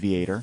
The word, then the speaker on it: Vater: so uh John Vater who I asked him for a pronunciation of his last name he said ve at e o r so we'll go with vator vator okay uh at